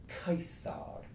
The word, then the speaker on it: Caesar: for first of all the letter C is always hard never soft so so our old friend Julius Caesar was of course case Zog he was not anything his name was case so then we've got